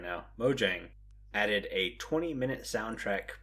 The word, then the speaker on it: Mojang: way to celebrate 116 muang has or Mojang sorry I gotta say it right now Mojang added a 20 minute